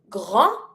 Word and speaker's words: grand: Grand, don't pronounce the D, it's not the R or the L.